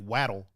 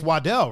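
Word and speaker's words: Waddell: uh Jake said always they said it like like like waddle so people suck Jake I'm sorry it's wadell right wad yeah yeah yeah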